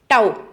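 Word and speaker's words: τ: हम लिखते हैं इससे, टाउ, ठीक है, टाउ से लिखते हैं। इसको जब प्रोनाउंस किया जाता है हिंदी के अंदर, आप बुक्स के अंदर देखना, इसको ताऊ बोला जाता है।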